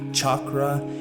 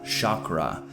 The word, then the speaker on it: chakra: So full disclaimer before we start, the word chakra is pronounced in two primary different ways, and people debate over which one it's supposed to be all the time. Some say it's supposed to be chakra and the other chakra.